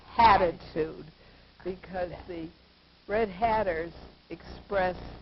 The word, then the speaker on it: hatitude: Hatitude.